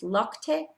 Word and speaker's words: Lokte: So Eric says it's Lokte. So it's a very weird name. I've never heard of it. But he says your angel's name is Lokte.